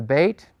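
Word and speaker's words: bet: this a little bit the hard pronunciation is B as in boy the soft pronunciation is v as in vine so when you encounter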